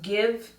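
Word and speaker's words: GXVE: now gwen stefani's new brand pronounced give beauty um it's spelled g-x-v-e um i saw it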